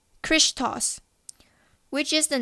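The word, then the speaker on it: Χριστός: This symbol was made by combining the first two capital letters, Shi and Rho, of this Greek word, pronounced as Christos, which is the name and title synonymous with Jesus.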